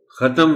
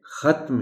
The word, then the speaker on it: ختم: الفاظ کہتا ہوں، اور درمیانے حرف پر جزم ہے لیکن ہم اس پر زبر ڈال کر پڑھتے ہیں۔ ہم نے شاید طے کیا ہوا ہے کہ ہم نے اس کو ختم ہی کہنا ہے، شاید ختم کہتے ہوئے تھوڑی سی احتیاط کرنی پڑتی ہے، تھوڑا اس کا خیال رکھنا پڑتا ہے کہ میں اس کو ختم نہ کہوں۔ تو آپ بچوں کو